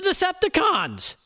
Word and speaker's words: Decepticons: The Decepticons. Well, it's with an emphasis on the last syllable, but you get my point.